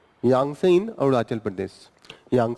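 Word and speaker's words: यांगत्से: chalk and देब संग यह है टी यहां पे थोड़ा सा साइलेंट हो जाता है यांग से इन अरुणाचल प्रदेश यांग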